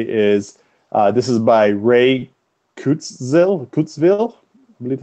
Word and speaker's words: Kurzweil: Usually throw that in, if not, or so the quote I have today is this is by Ray Kurzweil, I believe how you say it. Kurzweil, I believe is how you say his last name.